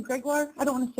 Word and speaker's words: Gregoire: it well said well um your last name greguar I don't want to say it wrong the last name is greguar yes je Greg you can call me